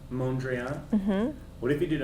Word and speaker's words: Mondrian: Mondrian. Mondrian?